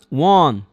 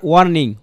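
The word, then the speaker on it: warn: ঠিক আছে, ওয়ান্সটা লিখলাম ওয়ান ওয়ান। দেখেন এটাকে কি পড়বেন আপনারা, ওয়ান, এটাকে কিন্তু কখনোই ওয়ার্নিং ওয়ার্ন আটটা পড়বেন না, আটটা পড়লে আপনার ইংলিশ প্রোনাউন্সিয়েশনটা আসলে ইন্টারন্যাশনাল মানের কখন হবে না।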